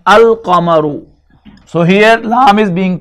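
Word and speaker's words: القمر: Now when alif lam is added to both of them, this becomes Ash-shamsu, and this becomes al-qamaru.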